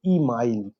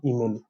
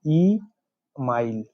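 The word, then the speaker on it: Émile: इनके बुक का नाम है ई माइल, नॉट ईमेल, ई माइल, okay, very famous book लिखे हैं ई माइल।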